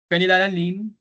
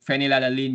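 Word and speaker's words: phenylalanine: Fenilalan PH E or letter F. Tandaan na natin pag fenilalin yyung F naman usually na po-pronounce natin.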